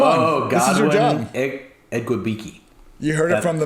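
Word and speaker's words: Igwebuike: I don't even know who you're asking me to pronounce. The running back, man. Come on. This is your job. Ekwubike.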